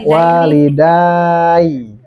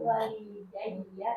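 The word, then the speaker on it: وَالِدَيَّ: Jadi bongkar Ustaz Acing masih dibongkar walidayya bacanya bukan walida walidai atau walida walidai walidaii bukan tapi tetap semuanya walida itu tuh walidaiya tadi tanda majurnya alyau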